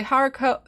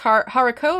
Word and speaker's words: haricot: Okay, haricot. So it's haricot or haricot? It's a type of bean. The T is silent.